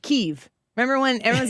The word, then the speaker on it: Kyiv: when Russia invaded them, that Kiev is the Russian pronunciation of that town, and Kyiv is the Ukrainian pronunciation of the town.